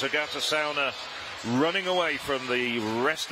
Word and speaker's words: Agate Caune: athlete in the final this is actually pronounced Agata sauna she said okay in that case I will amend my pronunciation and it's Agatha sauna running away from the